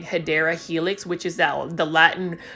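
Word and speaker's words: Hedera helix: you could probably put aedra helix or the correct way to say it is hadera Helix English ivy and for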